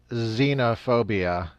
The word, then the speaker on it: xenophobia: Since the revolutionaries view xenophobia, which, why is it pronounced that way? It starts with an X. Why does it sound like a Z?